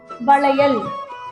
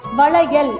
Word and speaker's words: வளையல்: நுனி ல இந்த எழுத்துக்கு அடுத்த எழுத்து இந்த எழுத்துக்கு பேரு மடக்கு ல நாக்க மடக்கி உச்சரிக்கணும் வளையல் வளையல் வளை வளைஞ்சு வரும். அடுத்த எழுத்து பார்க்கலாமா இந்த எழுத்து ரொம்ப சிறப்புங்க வேற எந்த எழுத்திலுமே கிடையாது.